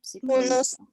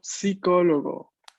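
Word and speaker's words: psicologo: Es en español que la P no se pronuncia. En italiano se tiene que pronunciar.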